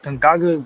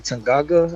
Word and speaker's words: Tanganga: Tangaga? I can't even Oh, pronounce his name right. Tanganga.